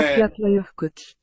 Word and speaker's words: Eyjafjallajökull: Eyjafjallajökull. Thank you. Yeah. Now pronounce the Welsh one.